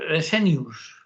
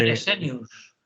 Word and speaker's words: Fresenius: Sí, como suena se escribe porque Fresenius. Sí, lo queremos ver. Fresenius. Es decir, tal como suena, Como Fresenius. suena, Fresenius, como fresa, pero con E, Fresenius.